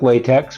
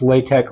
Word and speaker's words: LaTeX: a typeset in LaTeX, which is spelled like latex, but it's actually pronounced LaTeX or LaTeX.